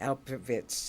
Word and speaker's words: Alperovitz: from Santa Fe our guess it is gar alperovitz am I saying it right you have your